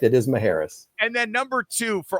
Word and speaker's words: Macheras: It's Macheras, correct? The last name. It's a good Greek name. I always used to say that C is in there for confusion.